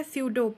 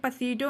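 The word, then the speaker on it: pseudo: next word है हमारा सूडो पी एसई प यू डी ओ सूडो में ध्यान दीजिएगा आप लोग इसमें पी जो है वो साइलेंट है तो यह पीडो नहीं पढ़ा जाएगा ये सूडो पढ़ा जाएगा सूडो मतलब क्या होता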